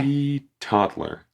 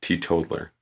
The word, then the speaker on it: teetotaler: Teetotaler. That's how it's pronounced. Teetotaler. Toddler. A person who never drinks alcohol.